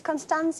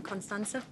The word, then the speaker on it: Constanze: It's Constanze. It looks Italian. It's German, Constanze.